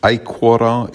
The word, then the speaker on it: aequora: For example, in aequora, it's on the first syllable because the O is short.